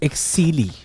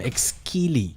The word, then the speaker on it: Exceeli: i'm just being told it's pronounced exeli so my apologies i've been calling them ex-keely i don't think there's a k in the pronunciation so thank you to